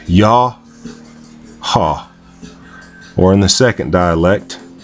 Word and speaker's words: Yah Ha: from right to left it would be pronounced in again in the oldest dialect yah ha I am or um